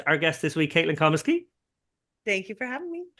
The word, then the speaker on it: Comeskey: heard you speak recently, it's Comeskey in your part of the land. It would be Comeskey. Yeah, how do the Irish people say my name? Comeskey. Yeah, I was doing the Irish pronunciation. Yeah. Comeskey works. I know who you mean. Comeskey is how I hear it most often in the States.